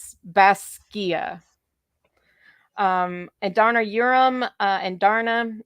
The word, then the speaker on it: Basgiath: So it's Baskia. And Darna Urim and Darna means second honor. It's pronounced An Darna Urim.